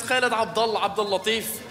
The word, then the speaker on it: Khaled Abdul Latif: That's not actually how you pronounce my name. It's actually just Khaled Abdul Latif.